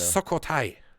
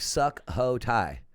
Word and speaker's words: Sukhothai: Sukhothai. Sukhothai. It's spelled Sukhothai. Oh, so it sounds like suck ho Thai.